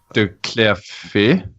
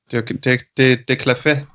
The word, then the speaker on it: de Clerfayt: how do you actually pronounce his second name? Probably should have asked that. De Clerfayt. De Clerfayt.